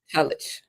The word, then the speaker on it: Tulloch: Is it Tulloch? That's how you say it? It's Tullich. Tulloch.